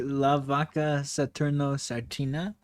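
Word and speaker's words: La Vaca Saturno Saturnita: Now you know Dolphanita Bananita or however you pronounce it. You know, that's another one that's like a lesserknown character, but like like Leernno Satnet Satina. It's actually La Vaka Satno Sartina.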